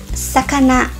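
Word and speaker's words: さかな: Na verdade, se pronuncia sakana.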